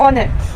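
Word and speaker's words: honour: हमारे पास शब्द है ओनर जब मैं ओनर करती हूं तो इसमें हा जो है ये साइलेंट है और जो साउंड प्रोड्यूस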